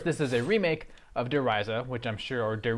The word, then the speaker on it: Der Riese: I believe, having lived in Germany, I believe that the correct pronunciation is Der Riese, but I'm not gonna get into that.